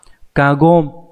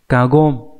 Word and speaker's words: 過言: chữ ngôn ở đây chúng ta sẽ đọc là Cargo chứ các bạn không đọc là game nhé Mặc dù chữ ngôn thì trong nhiều từ đọc là game nhưng mà trong trường hợp là cái chữ quá và chữ ngôn này sẽ đọc là gom nhớ nhá cá gom Vậy thì ý của